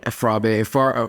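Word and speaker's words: Fourah Bay: It is called Frabe College. Frabe? Frabe. It's spelled Fourah, Bay College, but in Sierra Leone, we pronounce things differently than how it's not phonetic.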